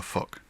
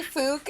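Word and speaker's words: FUCC: have so the Feminist Union of Charlottesville Creatives, is that pronounced fuke or fuck? It's pronounced fuck. Okay. People people do say fook if they feel embarrassed, and that's fine. But Yeah, it's technically fuck. it's technically fuck.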